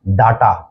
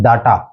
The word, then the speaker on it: data: है ये DATA यानी डाटा। इसको हम बोल देते हैं डाटा, जबकि इसका जो करेक्ट प्रोनाउंसिएशन है वो है डेटा, डेटा, डेटा।